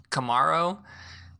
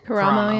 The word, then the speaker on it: Karamo: But as far as coaching and importance, I feel Kamaro and Tan do the same. They do a really good job. I hope I'm saying it right. Karamo, yeah. Sorry, Karamo.